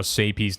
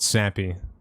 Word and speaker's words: Sapy: Just like how Sapy's name is not Sappy. Because if it was, there'd be 2 P's. It's Sapy. Just the way it is.